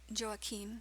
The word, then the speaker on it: Joaquin: Joaquin or joe-akim sometimes he said it's pronounced the age of Saint Anne when she married st.